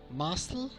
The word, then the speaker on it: muscle: The letter C after S can be silent. For example, muscle, scissors, scene, fascinate, as if there were no C here.